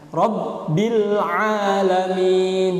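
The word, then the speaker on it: رب العالمين: Jadi harus fase ini membedakan hamzah dan ain. Ini jadi lahan yang jali nanti kalau nggak bisa benar pengucapannya. Rabbil alamin.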